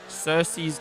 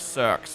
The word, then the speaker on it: Cersei: Cersei's cave. Cersei is where I just had my birthday party. That name I was pronouncing it Cirs for so long.